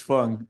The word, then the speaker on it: Fung: It's Fung and everybody says Fang because that's the way it looks in English.